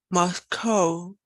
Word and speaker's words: Moscow: Yeah, but how you pronounce, for example, this word? Moscow.